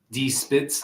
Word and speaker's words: Die Spitz: Die Spitz, like as in the Spitz, like German. Yeah, The Spitz. but that they don't pronounce it that way. Like they're from Texas. Oh, okay. But yes, Spitz. Die Spitz. They definitely say die.